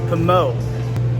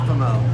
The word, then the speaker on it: Pommeau: It's pronounced Pommeau. It's a French word. It's Pommeau. Pommeau.